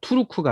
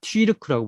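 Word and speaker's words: Türk: 이것을 튀르키예, 그러니까 투르크가 아니라 튀르크라고 부르는 umlaut가 붙은 것도 독일어 같은 모양 있잖아요.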